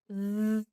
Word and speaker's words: β: Β, γ, γ, β, ζ, κ, κ, λ, λ, μ, ν, ν, ξ, π, ρ, ρ, σ, τ, φ, χ, ψ.